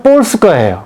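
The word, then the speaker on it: Polska: 폴란드는 가만 보니까 폴스카예요.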